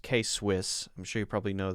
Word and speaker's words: K-Swiss: That one's pronounced K-Swiss.